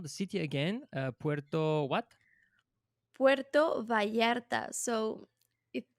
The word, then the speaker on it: Puerto Vallarta: Puerto Vallarta. So it It's pronounced as Vallarta, but it's with double but L.